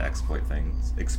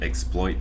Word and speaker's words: exploit: It's like if it's a verb, the second syllable gets the emphasis, but if it's a noun, the first syllable does.